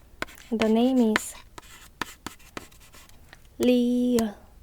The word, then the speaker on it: 리을: ㄷ phát âm là [d]. Và tên là 디귿 được rồi, tiếp theo là 리을 vẽ một đường từ trái sang phải